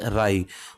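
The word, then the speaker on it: wry: batch Agarwal है रही इस में डब्लू साइलेंट है इसको बोलेंगे राय बूथ राय विद द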